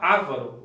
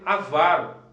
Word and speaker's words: avaro: Outra coisa, pessoal, na verdade o pessoal fala avaro, o correto é avaro, né? Esse é o correto dessa palavra aqui.